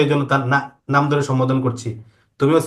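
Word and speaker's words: ت: এবার জিহ্বার আগাটাকে উপরের দুই দাঁতে লাগাও, দুই দাঁতের গোড়াতে এই যে ভিতরে। এদিকে তাকাও। সবাই করো। একজনকে বলা মানে অপরজনকে বলা, হ্যাঁ, সেম কাজ উভয়জন করবা। হামজা ছোট তো এই জন্য তার নাম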